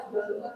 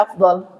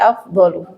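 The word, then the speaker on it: أفضل: Bacanya afdal afdal. Ee kalau dimatikan ya afdal. Heeh. Kalau dipakai harakatnya berarti afdolu.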